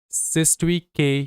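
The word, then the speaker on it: cestui que: Next आएगा हमारा सिस्टी के ट्रस्ट। अच्छा यह जो कयू ई है ना इसको हम लोग के प्रोनाउंस किया करेंगे।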